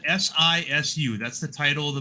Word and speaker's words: Sisu: What was badass was that Shushui movie I saw yesterday. That's badass. Shishui, am I saying it right? Shushui. It's Sisu. Shishu. Sisu.